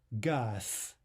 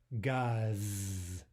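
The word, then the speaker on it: газ: Next, gas is gas, gas, not gaz, right? Devoice the Z, it becomes more like an S, gas.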